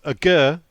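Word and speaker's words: Aguerd: carries on he says a girl he said and he's gone d you don't pronounce the d all right which apparently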